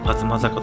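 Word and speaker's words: 東坂: この坂は東坂と読みそうですが、東坂と読むのが正解です。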